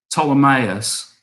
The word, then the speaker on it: Ptolemaeus: side is called some ptolemaeus which has a silent p at the beginning of it um now you can